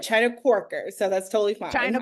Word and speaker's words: Chyna Quarker: have you here welcome and please correct my pronunciation of your name thank you so much no you said it right China quker so that's totally fine china quker all right